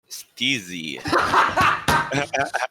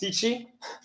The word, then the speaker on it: Steezy: It's pronounced Stitchy. Okay, And Stitchy. yeah, it's because it's C and Z. It's a combination of letters, and in Polish it's pronounced ch. Okay.